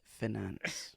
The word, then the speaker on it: finance: Audrey Forbes Hamilton says it's finance. Oh yeah, financial. The financial... and then Financial Times Pink. Oh yes. Finance. Finance, yes. So it's finance, according to Audrey for Forbes Hamilton.